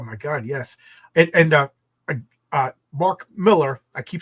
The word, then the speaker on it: Millar: I always pronounce it Millar. Yeah, that's one of the things we talked about. He pronounces it Miller.